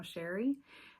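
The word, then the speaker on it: Chere: My name is Sherry and that is spelled C H E R E. It is spelled a little fancy but pronounced plano Sherry.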